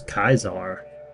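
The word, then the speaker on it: Caesar: Augustus Kaisar. We've been pronouncing it wrong this whole time.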